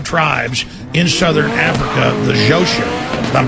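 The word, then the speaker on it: Xhosa: the most powerful tribes in southern Africa the zosa if I'm pronouncing that right x h o s a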